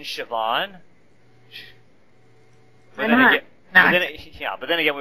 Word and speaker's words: Siobhan: like how you sp there's a be in there you don't pronounce the be in shobhan yeah but then again